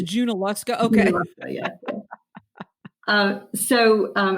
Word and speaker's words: Junaluska: Waynesville um and okay I've always wanted to know how to pronounce that I've always called it yoa so it's junaluska okay yeah uh so